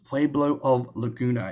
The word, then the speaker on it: Pueblo of Laguna: tribal member of and I believe it is pronounced poblo of Laguna is that correct yeah you got it oh